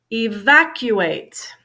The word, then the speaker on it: evacuate: words okay support support evacuate evacuate second syllable stress gathering gathering grabbed or